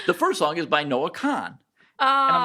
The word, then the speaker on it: Noah Kahan: And every person is pronouncing it Noah Khan.